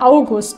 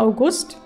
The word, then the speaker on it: August: sagt das nämlich beim wenn Menschen so heißen sagt man August ne Betonung auf der ersten Silbe und wenn es der Monat ist sag mal August ist Quatsch oder ich